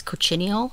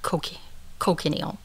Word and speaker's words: cochineal: Some people say you pronounce this Cochineal. Some people say Cochineal.